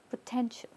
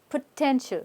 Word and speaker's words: potential: is now the ti is like sh potential right this entire thing potential repeat potential good they